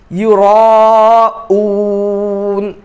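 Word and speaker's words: يراءون: আল্লাযীনা হুম ইউরা, ইউরা ইউরা নয়, ইউরাউন, অনেকে এই হামজাটা হারিয়ে ফেলেন, ইউরাউন পড়া হয়, এটাও ভুল, ইউরাউন, এটা হলো সঠিক আমাদের জন্য।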